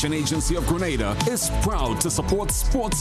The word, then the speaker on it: Grenada: That's why the Investment Migration Agency of Grenada is proud to support sports initiatives as part of our commitment to youth and national development.